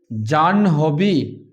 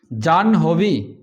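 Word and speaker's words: জাহ্নবী: জান হবি। জান হবি এর উচ্চারণটা আমরা করব। আগে ন পরে হ।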